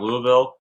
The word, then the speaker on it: Louisville: Congratulations on on your new building downtown Louisville. Uh the tasting room is currently open. Like I said, last Thursday, I believe, is when they did the ribbon cutting. And and so if you're down in Louisville, Kentucky, go check them out.